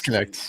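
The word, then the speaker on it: Knecht: Dalton Connect or whatever the fuck you say. I don't know how to say his last It's Connect. name. Yeah, it's Connect.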